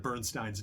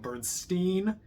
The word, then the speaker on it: Bernstein: also would like to reiterate my apology for mispronouncing Leonard Bernstein's name so much in that video it's I kept calling him Bernstein his name is pronounced Bernstein I'm sorry I